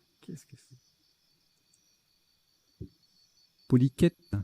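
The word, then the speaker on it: polychète: Hyperbole, hydrocèle, hylochère, polychette. Qu'est-ce que c'est? Polyquette, ça se prononce, polyquette.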